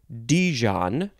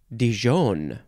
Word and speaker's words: Dijon: you might know how how do you pronounce this you can say Dijon or Dijon that's the first word with